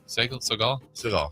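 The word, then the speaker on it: Sagal: Is it Segal? No, Peg. Segal. Yeah. Segal, but not like Steven. Okay, but not spelled the same. Yeah. Katie Segal is.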